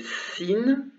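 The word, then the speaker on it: سين: La première s'appelle Sin, Sin, et elle se prononce S, tout simplement.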